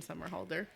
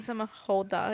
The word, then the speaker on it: Somerhalder: I said Justin Bieber, Chris Evans, and Ian Samahoda. Is that how you say it? Somerhalder. Yeah, Somerhalder. Or Holder. I don't fucking know.